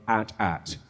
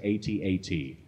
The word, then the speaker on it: AT-AT: questioned me on was my pronunciation of at-at apparently I was supposed to say 8080 and it's a big